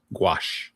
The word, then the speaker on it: gouache: ink, marker, acrylic, and you say, is that gaus? Is that how you pronounce that? Gouache.